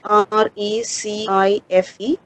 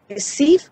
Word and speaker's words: Recife: And there is another place that you can see in the poem, R-E-C-I-F-E. That's another place that is related to the Capibaribe River, which you pronounce it as Recife or Recife. Both are seen.